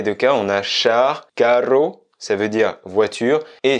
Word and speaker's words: carro: On va dire carro, un carro, donc C-A-2-R-O. Attention, avec le double R à bien prononcer, un carro, on insiste un petit peu plus.